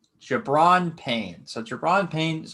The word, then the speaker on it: Gi'Bran: The way I say it, it's Gi'Bran. It rhymes with LeBron. Gi'Bran Payne.